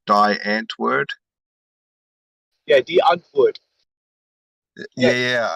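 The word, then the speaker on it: Die Antwoord: say it all right you say d d as in the d die die d d hunt would so uh dude yeah um don't think flemish think of more like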